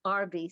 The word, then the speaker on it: Arbe: i appreciate it my name is audrey i spell it a-u-d-r-y-e i you need my last name it's rv spelled a r b e i can be